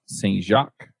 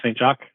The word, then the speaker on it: St. Jacque: we have a special guest and that's St Jacques did I get anywhere close or do you pronounce it differently you got perfect awesome um